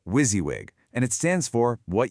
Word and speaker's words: WYSIWYG: You say it like wizzywig, and it stands for what you see is what you get.